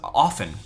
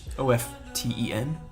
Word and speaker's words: often: it um it was often o-f-t-e-n is often you don't pronounce the t is the rule so you know i